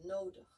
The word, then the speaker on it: nodig: Was gets pronounced like a again, like this neutral sound, nodig.